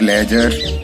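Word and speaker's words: ledger: रहा है ब्रिज और लेजर, बजट। यहाँ तीनों जो आपको शब्द दिखाई दे रहे हैं यहाँ पर हमने डी का उच्चारण नहीं किया है क्योंकि यहाँ पर डी का साइलेंट हो गया है।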